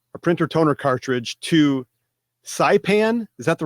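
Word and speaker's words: Saipan: printer toner cartridge to sipan is that the right how you pronounce that country s a i p an sipan and it had a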